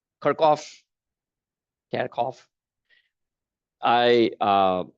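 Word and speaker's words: Kirchhoff: you pronounce this name kirov kov I uh I'm from India and so the way we say this name is kof so if you hear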